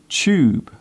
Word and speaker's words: tube: Do you notice how I pronounce the word tube? The first part of the word sounds like chair. It is common in British English to pronounce the TU sound as ch.